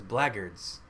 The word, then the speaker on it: Blackguards: See, it's spelled Blackguards, but everyone in the game says Blaggards.